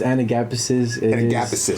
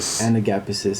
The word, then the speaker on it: Anagapisis: It's pronounced Anagapisis. Anagapisis. It is Greek.